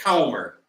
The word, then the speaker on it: Comer: a republican from Kentucky so I think he says James Comer is how he pronounces it okay um anyway he